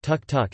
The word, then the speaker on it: tuk-tuk: The auto rickshaw, called tuk-tuk, Thai, tuk, pronounced tuk-tuk, in Thailand, is a widely used form of urban transport in Bangkok and other Thai cities.